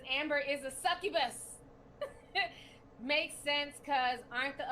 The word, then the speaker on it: succubus: oya dee sent five she says you can pronounce it it's succubus thank you so much for the super chat